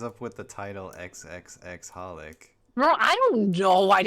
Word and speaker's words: HOLiC: Western Society well technically the actual proper pronounce like pronunciation for the title is just holic yeah oh I mean